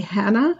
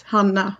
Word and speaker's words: Hanna: oh my God and even my name isn't actually Hannah it's Hana but feel free to